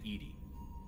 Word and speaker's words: EDI: why are you named Edie Edie is the the phonetic pronunciation of EDI that is an acronym for enhanced defense intelligence makes sense why are you named Edie and now it's the